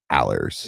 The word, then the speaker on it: Alers: I'm with the Alers.